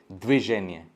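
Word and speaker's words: движение: यहाँ पे देखिए व कभी भी आप होल प्रोनाउंस कर नहीं पाएंगे, द वर्जिन ऐसा आप नहीं कर पाएंगे, तो यहाँ पे व सिर्फ एक हवा, एक छोटा सा हवा।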